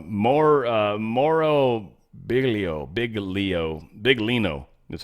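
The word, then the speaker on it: Biglino: Moro bigo big Leo big Lino that's how you would sort of spell it but you sort of don't pronounce the G he's not the actual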